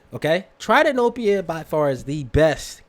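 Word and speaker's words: tritanopia: butcher this ready hey Google how do you pronounce t RI ta n o p IA okay thank you google try to nope you okay try to know PA by far as the best colorblind filter simple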